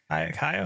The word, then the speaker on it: Caio: Caio? Caio?